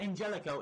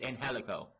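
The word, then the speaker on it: Angélico: you're gonna be and it's not Angelica it's in helico Bay right if you're sitting there watching the guy it is and helico that is how it's pronounced ourselves always some pronounced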